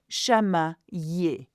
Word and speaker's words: chamailler: When you have an I with a double L, it's a ye sound. And it's here as well. Chamailler.